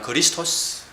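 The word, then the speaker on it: Χριστός: 그리고 이분의 다른 별칭으로 우리는 그리스도라고 그러죠. 근데 헬라어는 그리스토스. 메시아잖아요, 메시아.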